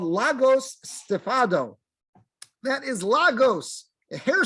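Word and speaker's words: λαγός: of Greece right there there it is Boom Lagos that's how it's pronounced in in Greek that's how it's spelled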